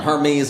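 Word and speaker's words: Hermès: It's pronounced Hermes. Oh, this is what happens with poor people try to pronounce. This is what happens when one of the poorest puts luxury in his mouth.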